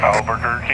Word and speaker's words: Albuquerque: Uh I don't even know how to pronounce that, bro. Sorry. Albuquerque.